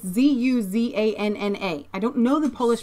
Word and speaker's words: Zuzanna: Do you pronounce it Susanna? It's Zuzanna.